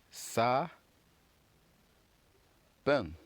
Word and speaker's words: sapin: So we have the first syllables right here, which is S-A. And SR is pronounced sa. And of course, we have PEN. Remember, we saw the N sound, which is IN, and we pronounced it as N. Very good. So, which gives us sa pen.